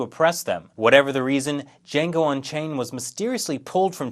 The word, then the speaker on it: Django: Django The D is silent.